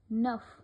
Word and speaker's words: neuf: Then the word ends with certain consonants C, R, F, L, then we pronounce them. For example, avec, hiver, neuf.